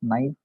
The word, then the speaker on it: knife: 65 it says knife people have to pronounce knife it is silent letter it is related with